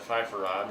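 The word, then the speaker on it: sofrito: And I'm pronouncing it with the Spanish vowels instead of fifarad. It's fifarad.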